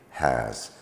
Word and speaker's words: has: say h we say has quite common in many many words in English the S spelling is pronounced as a z so so uh Beware